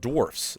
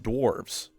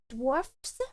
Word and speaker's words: Dwarfs: First is that it's pronounced dwarfs, not dwarves. Wait, say dwarfs with a with a hard S.